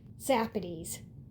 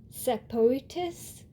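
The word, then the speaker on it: Sapotis: And this one is Zapades. Based on the spelling, they tend to say something like Sapotus.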